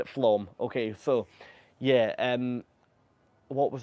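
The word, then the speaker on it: Flåm: to dock in well, it's written as Flam. I think you pronounce it as Flom. Steph, if you're still here, you're going to hit me for saying that wrong.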